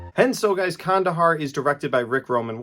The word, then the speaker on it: Kandahar: this movie I thought the movie was called Condor because I didn't know how to pronounce it so I went into the theater